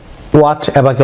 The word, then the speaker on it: whatever: আপনারা অনেকেই হোয়াটএভারকে অনেকেই হোয়াট এভার প্রনাউন্স করে থাকেন। এটির সঠিক ব্রিটিশ উচ্চারণ হচ্ছে হোয়াটএভার। লক্ষ্য করুন, যেমন ডাব্লিউর পরে যদি এইচ অর্থাৎ হেজ থাকে, এটি এইচ সাইলেন্ট থাকবে। সো এটি উচ্চারণ হবে ওয়াট, নট হোয়াট।